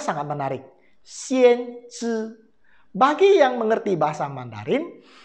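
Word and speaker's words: 先知: Bacanya sangat menarik. Xian Zhi.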